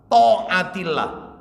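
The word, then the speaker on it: طاعة الله: To-nya itu th. Ta'atillah. Ta'atillah. A-nya pakai ain, pakai koma atas. Ta'atillah. Nah, ya. Nulis Latin ya, cik wangele ya Ustaz. Lo biar enak bacanya, biar tahu kalau ini bukan tak tapi to.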